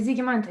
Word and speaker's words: Žygimantė: How do I pronounce your name? Is it Zygimantė? Yes, it's actually Zygimantė, yeah, but you can call me if it's easier for you.